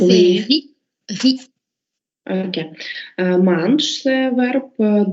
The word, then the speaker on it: riz: On ne prononce pas ici le Z, hein? Donc ça fait riz.